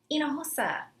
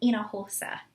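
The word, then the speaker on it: Hinojosa: down the halls and you would hear people saying inahusa you know it's just it's not like a basic last name like you know something short like cruise it's you know inahosa with the silent h so anyways mariano hosa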